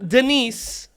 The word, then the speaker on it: Denice: So Denice, by the way, is the original D-Nice. Oh, gosh, yeah. Because her name is actually spelled with a C, like D-Nice, like actually.